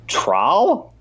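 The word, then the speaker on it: Traal: ravenous bugblatter beast boom trowel is how you say that oh yeah I think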